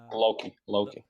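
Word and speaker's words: Lochie: Yeah, because like when I listen to Cryogenesis, it definitely when I don't know if it's pronounced Loki or Lochi. Loki. Loki.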